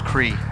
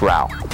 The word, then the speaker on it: Rao: You play a barbarian named Rao. Rao? Rao. How do you spell that? R-A-U. I thought his name was Kri. No, it's Rao.